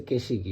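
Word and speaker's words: 景色: উত্তর হচ্ছে তিন কে এই কাঞ্জিটার উচ্চারণ হচ্ছে কেশিকি মানে হচ্ছে যে ন্যাচারাল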